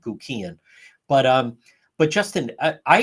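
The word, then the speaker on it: Guckian: family and they, you know, demonstrated how to pronounce his last name, Guian.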